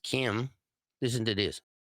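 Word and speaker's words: chyme: I don't know if you ever heard of chime but chime is sometimes what people hear when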